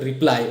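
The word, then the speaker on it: reply: പക്ഷേ അവിടെയും ഒരു ഒബ്സ്റ്റക്കിൾ ഉള്ളത് എന്താണെന്ന് വെച്ചാൽ അവരുടെ ടൈമിങ്ങിനനുസരിച്ചായിരിക്കും നമുക്ക് റിപ്ലൈ കിട്ടുന്നത്. ചില സമയങ്ങളിൽ നമുക്ക് റിപ്ലൈ കിട്ടിയില്ല എന്നും വരും. അപ്പോൾ ഇവിടെ ശ്രദ്ധിക്കേണ്ട ഒരു വേർഡ് ഉണ്ട്, റിപ്ലൈ. ഓക്കെ, കൂടുതൽ പേരും റീപ്ലൈ എന്ന രീതിയിൽ പറയുന്നത് ഞാൻ കണ്ടിട്ടുണ്ട്.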